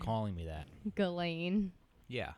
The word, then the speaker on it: Ghislaine: Ghislaine was, I think I'm saying that right. No, they pronounce it a little bit different. Do they? Ghislaine? Yeah. Yeah. It was Ghislaine.